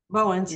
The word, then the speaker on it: Bowens: Am I pronouncing his last name right, Alpha? Yeah, Uh, Bowens. Yes.